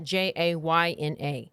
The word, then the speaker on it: Jayna: I say sometimes say Jana, but it's Jana, Jayna.